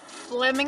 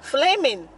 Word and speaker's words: Fleming's: fleming fleming fleming okay at fleming's steakhouse flamin flaming yeah flame as in flame right well it's spelled fleming f-l-e-m-i-n okay so it's flaming steakhouse if you guys know anything about flemish steakhouse but with my accent i would call it fleming yes it's crazy yeah